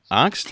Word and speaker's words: Angst: I can't wait to dig into things with you because I've always wondered, what is the correct pronunciation of angst? Is it angst? Angst?